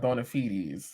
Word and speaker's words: bona fides: I never knew the proper way to pronounce that word. And you said bona fides.